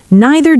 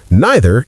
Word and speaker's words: neither: British English usually neither sounds like nigh.